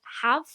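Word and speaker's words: Haf: that right she's wellsh it's like HF in the book say it's pronounced like hav hav they also make a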